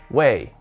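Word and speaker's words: 位: his position rank or title this character is pronounced wei and it means position it is used in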